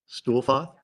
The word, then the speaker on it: Stuhlfauth: Okay, can you please state your name for the record and My name's Stuhlfoth. I'm can you please spell that for Tony? Your last name. It's S. No. Stuhlfauth. Stuhlfoth.